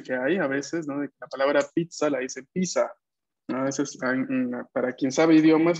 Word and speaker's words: pizza: palabra parte del español por ende se va a pronunciar como la pronunciación italiana así que la variación pizza cuando vemos dos zetas